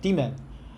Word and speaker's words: daemon: the lunch then uh how to say then Daemon demon demon the EPV is hiding in the launched demon